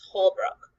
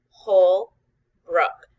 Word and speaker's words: Holbrook: it has my name my last name is Holbrook whole Brooke sometimes clapping or putting her hand on her chin can help us hear the syllable hearts whole Brooke two syllables two small parts in